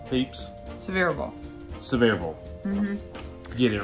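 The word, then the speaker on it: Sevierville: coming to the end it's several severe not seaverville save reveal has been said yeah severe ball peeps severe ball severe ball get it right okay Sevier County for County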